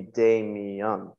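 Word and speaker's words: Damián: it in Spanish and your name is Damien that's how you would pronounce it in Spanish um there's a technically an accent on the way it's spelled would be de me young so Technic like my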